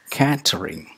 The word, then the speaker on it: catering: a mile number eight c-a-t-e-r-i-n-g well it's not catering it's catering the initial vocal sound is not a it's a diphthong it's a catering catering number nine c a